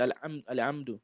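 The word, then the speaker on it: الحمد: So one of the common mistakes people make is the ha. It's not given the proper pronunciation. They just say alhamdu, right? Alhamdu, alhamdu. So you have to pronounce the ha very well because the ha comes from the wasat al halq, right?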